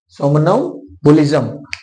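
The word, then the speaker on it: somnambulism: in sleep को कहते हैं सोमन बोलिज म सोमन बजम spelling S ओ एम एम एन ए एम बी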